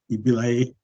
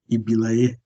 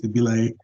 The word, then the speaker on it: Ibilaiye: My surname is Ibilaiye. It's not Ibilaiye. In Yoruba language, it has context, so it's Ibilaiye.